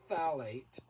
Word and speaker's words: phthalate: if you can spell phthalate it's pronounced phthalate the pH is silent but the phthalate they